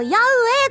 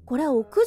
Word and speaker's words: 屋上: 上ソプラノビルの矢上だってさママ屋上って読むんだどういう意味この